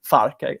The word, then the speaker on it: Farke: Okay, the right pronunciation is Farke, I think.